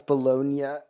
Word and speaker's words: Bologna: Wait, yeah, it's Bologna. Okay, not Bologna, I'm so sorry.